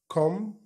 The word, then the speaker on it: comb: وادي النطق بتاع الكلمات بتاعتنا اللي احنا بنستخدمها في الاكسرسايز دوت، clean clean ينظف، wash wash يغسل، come come ألاحظ ان البي مش بننطقها اصلا، بتبقى silent، يمشط يمشط شعره يعني يصرحه بالمشط، teeth teeth اسنان، face face وجه، صلد صلد السلطة.